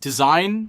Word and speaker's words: Dzine: This is Deen AI, pronounced design, and we're going to see if it can actually replace traditional animation workflows.